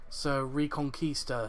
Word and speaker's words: Reconquista: and the a it it's pronounced as conquista as in conquistadors so reconquista so yeah so i